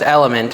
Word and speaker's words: LMNT: to the site drink lmnt element so it's element is how you pronounce it did I say element a bunch